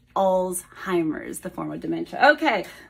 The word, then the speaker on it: Alzheimer: understand that but old oldtimers it is not it is Alzheimer the form of dementia